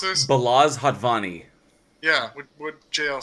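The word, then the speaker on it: Balázs Hatvani: Directed by Blazes Hatvani. Balls Hatvani. No, do you know this one? Can somebody pronounce this? Balaz Hatvani.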